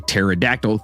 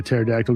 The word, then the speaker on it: pterodactyl: Do you know why you can't hear a pterodactyl go to the bathroom? Because the P is silent.